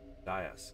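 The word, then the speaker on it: dais: up to a a Das de I can never remember the pronunciation of that word it's de you had it right all right stands uh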